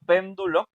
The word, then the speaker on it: péndulo: Por ejemplo, si yo digo esto péndulo, nos damos cuenta la sílaba, la última sílaba es lo, ¿no? La penúltima es eh do y la antepenúltima es p. Y esa precisamente pen, o sea, la antepenúltima es la que suena más fuerte porque la palabra es pen, ¿no?